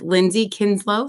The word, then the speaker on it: Lindsay Kinslow: I am here with Lindsay Kinslow. Did I pronounce that correctly?